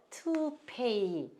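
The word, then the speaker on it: toupee: 투페이 이렇게 쓰는데 자 여기서 이거 우리가 T는 티귿이고요. 요거 O를 발음을 안 해요. 그 사람들이 요거 쓰고 P는 피읍 쓰고 요것도 모음 두 개 있으니까 이라고 발음해야 되는데 이렇게 발음을 해요. 투페이. 그러니까 이게 미국이나 영국 사람들 입장에서 보면은 외래어일 거예요. 외래어일 때는 이렇게 발음이 달라요.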